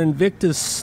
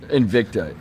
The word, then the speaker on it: Invicta: cyborg who's defending her Invictus title Invicta or Invictus am I saying it wrong Invicta Invicta FC Invicta FC um she's defending her